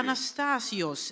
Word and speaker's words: Anastasios: cool yeah yeah awesome awesome welcome thank you anastasios am I pronouncing it correctly you're pronouncing it perfectly awesome